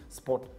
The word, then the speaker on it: SportPesa: It's actually three, SportPesa. Pensa. It's just three syllables.